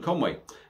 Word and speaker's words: Conwy: by conway brewery in conway now their website is con conway brewery obviously if you don't look back at this conway is spelt c-o-n-w-y uh so the website